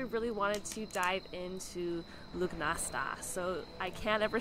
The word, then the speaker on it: Lughnasadh: Irish kind of folklore that it would be pronounced luminous which is the prettiest one so far right